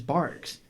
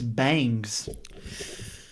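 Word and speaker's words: Barq's: I come back out, and I'm like, this is Barks. And she's like, that says Bangs.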